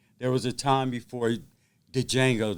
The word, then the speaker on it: Django: There was a time before Django, the D is silent.